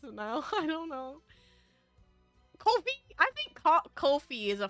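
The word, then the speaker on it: Ko-fi: very concerned about it K Kofi it is Kofi okay I will pronounce it K Kofi then hot dogs get your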